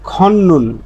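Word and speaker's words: 걷는: তারপরে নিউন পাইছি তাহলে দ্বিগুতের পরে বা তধ্বনির পরে নিউন আসলে এ ত ধ্বনির উচ্চারণটা নিউন হয়ে যায় এজন্য এর উচ্চারণটা হবে খন্নুন খন্নুন খন্নুন মানে হাঁটা আরেকটা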